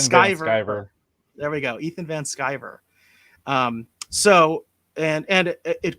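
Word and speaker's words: Ethan Van Sciver: is it shiver or shiver or if i pronounce his last name correctly it's skyver ethan sky scriber there we go ethan van skyver um so and and it correct me if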